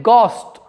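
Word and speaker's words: ghost: ध्यान रखना, इस शब्द को हम घोस्ट नहीं बोलते हैं प्यारे बच्चों। इस शब्द को हम घोस्ट नहीं बोलते हैं। क्या बोलते हैं? गॉस्ट।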